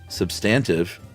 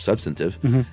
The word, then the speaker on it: substantive: Wade episode, Chuck at first pronounced substantive with the accent on the second syllable and instead of substantive, and it made such